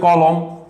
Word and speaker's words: কলম: কলম, দেখো মধ্য ল, তার আগে ক, অ আছে, তাহলে উচ্চারণ হয়ে যাবে কলম।